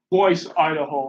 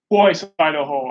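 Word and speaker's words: Boise: i'm not gonna breathe voice idaho i think that's how you pronounce it b-o-i-s-c think of this d-o-i-s-c-b-o-i-s-e-o-i-s-e just in case you have trouble hearing me i feel like necessary four times boys idaho a pet squirrel dave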